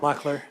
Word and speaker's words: Loechler: It's Loechler. It's Loechler. Sorry. Locklear. Locklear. There we go.